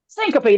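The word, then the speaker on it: syncope: phobia types is um what is that word Syncopy no passing out I can remember how to pronounce it huh Syncopy Syncopy that's it I never can remember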